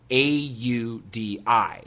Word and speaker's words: Audi: the American pronunciation is Audi. And then we have the word O-U-T, out. And then we have the word C-O-W, cow. Now the vowel sounds in all 3 words are the same.